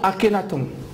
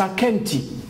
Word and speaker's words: Akhenaton: Akenti, les Égyptiens vont dire Akhenaton, alors que c'est Akenti.